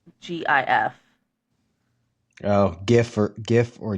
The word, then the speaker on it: GIF: So, I would only pronounce it that way if it began with a J. And there's there's my argument for it being GIF and not GIF.